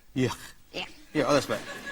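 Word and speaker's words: Björk: Please give her a warm, warm welcome for Bjork.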